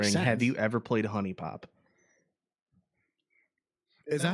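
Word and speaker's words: HuniePop: you ever played Honey Pop? Is that how it's pronounced?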